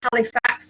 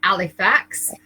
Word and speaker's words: Halifax: it was in um some people call it halifax or we call it alif x because we never pronounce our h's up there and uh